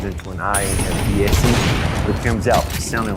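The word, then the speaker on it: dieciséis: And so what you're doing here, it comes out as DSC, DSC. So the die, CI helps us spell it, but you pronounce it DSC.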